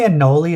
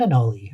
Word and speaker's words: anole: fancier otherwise when you say anoli it sounds like garlic anoli I always I always just called him a hole a hole anal anal what is how do you do how how do you pronounce lizard anoli I actually went to like a lizard YouTube channel and they were like here is the green anoli and I'm like okay